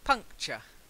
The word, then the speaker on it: puncture: the next one puncture not puncture just puncture amateur punctual and we do say sure but with this word ending it's puncture okay then the next one